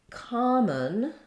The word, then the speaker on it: common: common versus come on SO in common we have the first syllable stressed and the letter o says the a sound and then this letter O is going to make very little sound it may be a small schah or it might just